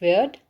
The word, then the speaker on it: wyrd: The early poetry reflected pagan beliefs like courage, faith, also written as WYRD, pronounced weird, and the warrior code.